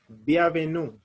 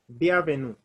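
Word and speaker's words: bienvenue: e n v e n u that is b avenue the avenue that is welcome the avenue in french the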